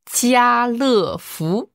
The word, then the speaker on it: 家乐福: Jialefu. Jialefu. Voilà, si on prononce plus vite, vous allez peut-être plus voir l'idée. Jialefu. Jialefu. C'est donc Carrefour.